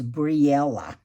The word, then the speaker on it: Breillah: Her name's Breillah.